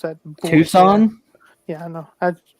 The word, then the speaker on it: Tucson: technically they can still leave and have the two skin road runners and as a hockey team did you say two skin yeah because I don't give a how to pronounce that Tucson yeah I know it's not even it's not